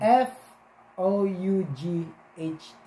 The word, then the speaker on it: fought: rin dude Sorry ha pangit kasi ang aking pronunciations Okay O sige na ba mali pa rin pron Oo pagbig na natin f o u g h t Oo ito Ito yung Oo so sige pagbigyan